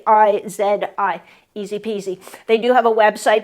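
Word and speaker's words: IZIPIZI: better sleep so these ones the brand is easy peasy uh and it's spelled i z i p i zi easy peasy they do have a website but there's other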